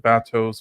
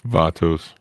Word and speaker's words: Vatos: Seasons uh vetos sorry is it Vos vatos how do you pronounce it it's vatos Vos is my favorite